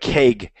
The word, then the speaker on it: keg: before Loop but yeah but keg we definitely pronounce it with the egg sound as opposed to beg and here in Meg all right so and